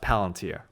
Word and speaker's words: Palantir: i rejected but it's they've told me it's pronounced palantir okay so palantir right they have uh so